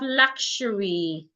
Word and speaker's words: luxury: We have luxury. Luxury, not luxury. We have luxury. Luxury. So there is um it seem like there is uh what's the word now? Uh sh sound there.